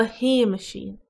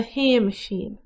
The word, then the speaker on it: Shéamaisín: Ó gráw mo chrí mo Hay-mush-een. The love of my heart is my little Jimmy. Ó gráw mo chrí mo Hay-mush-een.